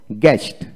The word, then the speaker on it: guest: তারপরে গেস্ট গেস্ট GUEST গেস্ট, বানানটা হলো GEST গেস্ট, IPS spelling গেস্ট।